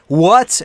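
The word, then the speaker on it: what: این یا در نتیجه وات یعنی چه چیزی آنچه دقت داشته باشید که برای تلفظ دبلیو لبهاتون باید حالت لولهای به خودش بگیره وات وات وات که چی بشه که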